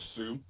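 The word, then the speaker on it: Sioux: a native tribe yeah s i o u is that i don't know how to pronounce that that is that's called sue yeah and i don't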